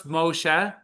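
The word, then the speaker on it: משה: What's Moshe?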